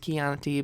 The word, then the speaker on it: Chianti: much Chardonnay Sauvignon Blanc Chianti which is actually pronounced Chianti but I don't know